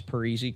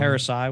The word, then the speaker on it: Parisi: Maybe they'll pronounce Parisi correct this year. Parasite. Parasai was what it was last Parasai.